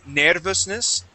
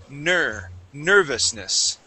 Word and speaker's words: nervousness: Instead of saying nervousness, we want to say nervousness.